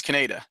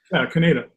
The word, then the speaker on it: Kaneda: know what you're talking about how do you pronounce cañedo cañedo yeah the protagonist how do you pronounce his name Kaneda okay cool well that's the stream that lets